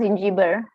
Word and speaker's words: Zingiber: It's pronounced Zingiber.